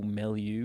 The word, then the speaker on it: milieu: junctures in this historical milieu, if that's even a word. Yes, it is. I think it's a word, Yeah. isn't it? Yeah. Usually pronounced with a French accent.